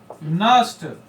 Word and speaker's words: Nernst: माना गया है, द नस्ट NERNST, N कभी कभी आपका छूटेगा तो 2-3 बार लिख लेंगे NERNST, क्यों, क्योंकि नस्ट में N साइलेंट रहता है, तो कभी कभी आपका गलत हो सकता है।